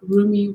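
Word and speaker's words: Rumi: that stuff um so roomie was a remy depending on how you pronounce his name a 13th century persian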